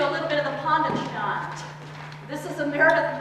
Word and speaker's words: panda: Let's do a little bit of the Panda chant. This is a Meredith Monk piece that we like to jokingly call a Panda chant because she wants the word panda to be pronounced Panda.